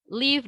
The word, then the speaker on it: leave: However, untuk yang leave dalam artian meninggalkan, nah di sini kita harus agak effort nih untuk ngeluarin getaran pada kata V-nya. Gitu. Jadi posisi gigi atas kita masih tetap ada di bibir bawah kita, cuman kita harus keluarkan sedikit getaran di sini. Ada force yang keluar dari mulut kita, yaitu leave ya, dibacanya seperti itu.